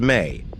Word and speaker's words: me: symbol related to enky is the mees pronounced May in Sumerian culture Mees were divine